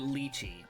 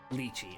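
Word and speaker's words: lychee: how to pronounce that is it Lei or ly it's I feel like it's going to be leachy or neither leachy okay that's what I thought I knew it was wrong as soon as I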